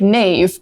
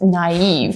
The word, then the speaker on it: naive: of these funny words it looks like Nave but it's naive it's actually the only word in English where the I can have two dots over it because it is its own syllable naive so having or